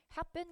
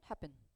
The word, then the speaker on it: have been: 발음의 차이점을 짚어본다면 have been 같은 경우는 강세가 거의 없어요. 그래서 빠르게 뭉개지고 되게 무성해하게 읽을 거예요. 성우가. 그리고 have been 하지 않고 앞에 V는 탈락이 되기 때문에 보통은 have been 이렇게 뭉개져서 발음이 될 거고 반면에 비빙 PP에서는 강세가